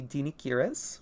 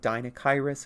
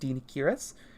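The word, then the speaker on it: Deinocheirus: And then we have the Dinichirus, which is the intended pronunciation. Once again, a lot of people will say like Dinachirus or something. It is pronounced Dinichirus.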